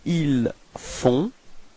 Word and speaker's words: ils font: Ils font. Okay, so you've got this nasal on, on. Okay, and then the final T is not pronounced.